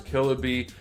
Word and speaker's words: Killabee: This is the Killabee. It's spelled the way it sounds, Killabee 8257.